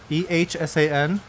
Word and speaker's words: Ehsan: Life of Ehsan, E-H-S-A-N. How do you pronounce that?